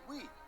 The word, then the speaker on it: Wii: unique at the time the wii is pronounced as we which emphasized the console is for everyone this meant the target